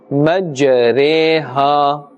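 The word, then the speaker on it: مجراها: The next two examples are of imala, and as we had spelled out this word a few minutes ago, we will pronounce as majreha.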